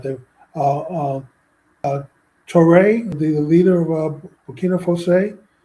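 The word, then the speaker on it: Traoré: Traore, the leader of Burkina Faso. That's how you pronounce his name? Traore? Ibrahim Traore. Ibrahim Traore? Traore. It's phonetic. It's just the way it looks.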